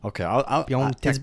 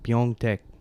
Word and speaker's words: Pyeongtaek: No, I looked up Pyeongtaek. Pyeongtaek? Bet you can't spell that.